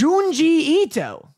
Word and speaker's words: Junji Ito: It's Junji Ito. Gunji Ito. It's a J. It's Japanese.